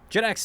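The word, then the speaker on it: JITX: released by Duncan at jitex jitex is the is the correct jit X is J as far as I mean he hasn't corrected me if I'm mispronouncing it this entire time okay Jed X Duncan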